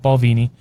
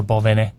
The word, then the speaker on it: Balvenie: We partnered with Balvenie. Or Balvene, depending on your pronunciation. Depending on where you're from.